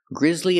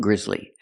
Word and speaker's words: grisly: And remember the two words, grisly and grisly. They're both pronounced exactly the same, but they mean different things. Grizzly with an S is something that's causing horror. And grizzly with a double Z, that's a bear.